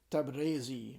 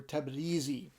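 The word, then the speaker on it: Tabrizi: uh last uh the the penultimate letter is either pronounced e or a um and the older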